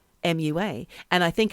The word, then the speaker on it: Oumuamua: I know I'm saying it properly because I Googled it. Oumuamua, and it's spelled Oumuamua, and I think it's a Hawaiian word, and I can't remember what it means.